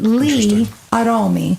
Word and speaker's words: Gli Aromi: It's spelled Gliaromi. But you pronounce it Li Aromi.